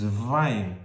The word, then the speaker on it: Wein: Yo le escuchaba que para mí era vino pero no es, pero se pronuncia correctamente con una V, que es Wein.